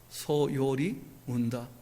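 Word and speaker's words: 소요리문답: 교리의 이 말 그대로 원래 교리죠, 교리. 근데 이게 제일 앞에 나오니까 두음이 되어지니까 탈락이 아니고 탈락을 한 거예요, 기억이. 그래서 요리가 된 거예요, 요리가. 발음 쉽게 하려고.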